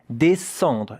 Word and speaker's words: descendre: It's a difficult word to pronounce because here there is also a nasal vowel, yeah?